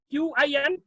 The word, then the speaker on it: Qin: I have selected one article from China, Qin Dinsati, right, Qin Dinsati, it is Qin, Q-I-N, it is pronounced Qin, not Queen, Qin Dinsati.